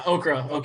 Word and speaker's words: OCCRA: Is it pronounced OCCRA, by the way? Yeah, OCCRA for sure.